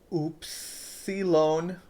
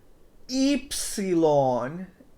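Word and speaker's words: ύψιλον: Our next letter is Oopsilon. Oopsilon. Oops that you mispronounced these letters. It is Epsilon.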